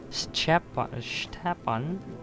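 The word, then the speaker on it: Stjepan: Stepan, but it's spelled STJ.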